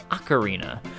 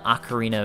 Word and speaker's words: ocarina: dictionaries okarina is pronounced acarina so the game would be the Legend of Zelda acarina of time however in Italian the word is pronounced okarina and the Japanese Katakana